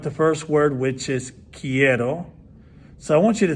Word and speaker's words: quiero: i want in spanish start with the key then add the word the sound error and then you get kiero now how do you